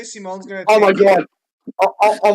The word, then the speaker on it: Simon: Well, no, not to be that cunt, but because of a weird pronunciation, it's actually Simone.